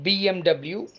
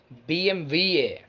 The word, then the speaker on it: BMW: further to the german manufacturer bmw it's not bmw it's actually bmva bmva bmva next is my personal favorite my